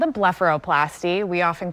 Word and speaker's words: blepharoplasty: surgery it's got a difficult for me to pronounce name what does it call so it's called a blepharoplasty we often call it a bluff for short